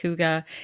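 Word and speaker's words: hygge: spelled the way it sounds but it is pronounced Huga spelled like like Hai which is sort of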